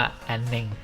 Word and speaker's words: Aneng: เคย คุย กับ เซลล์ เขา ออก เสียง ว่า แอนนิ่ง บอก ว่า มัน เป็น คำ สอง คำ นะ aan แม้ แต่ ใน